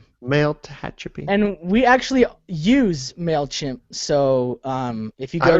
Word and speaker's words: Mailchimp: It's pronounced MailChimp, Aaron.